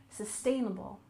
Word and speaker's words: sustainable: we have sustainable development with a stress on the second syllable sustainable sustainable and development we also